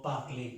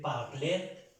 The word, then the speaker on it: parler: El verbo parler, no se dice parler, sino parler.